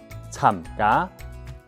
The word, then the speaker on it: 參加: 起參加，參加，參加。這裡也要提醒大家，參加的參客語要把嘴巴閉起來哦。